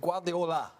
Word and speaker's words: Guardiola: I'm trying to say his name right, but Guardiola.